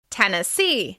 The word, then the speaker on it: Tennessee: Tennessee. As you can hear, the stress is on the final syllable of this word.